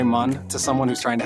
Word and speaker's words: Mun: I pronounce it mun. Mun. Because I remember that from the game, how they spelled it mun instead of moon.